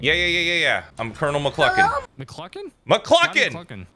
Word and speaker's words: McCluckin: McCluckin? McCluckin! What does Cluckin rhyme with? F***ing.